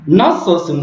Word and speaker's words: nasılsın: Donc, nasılsın, c'est i là, ce n'est pas un vrai i. Il est prononcé entre le i français puis le u français.